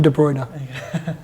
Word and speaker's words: De Bruyne: name of a video with the player specifically pronouncing their name Kevin De bruyne that's it let's move on De bruyne Silva